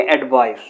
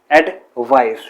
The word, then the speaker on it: advice: और ये सी किसका साउंड देगी? एस का। इसे हम प्रोनाउंस करेंगे एडवाइस, एडवाइस।